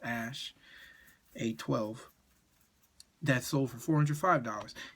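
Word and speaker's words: Æ: it's ash something a12 that x and ae is pronounced ash a12 that sold for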